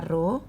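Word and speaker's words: rho: seperti itu home kemudian roh ini dibacanya ruh itu adalah hambatan Hai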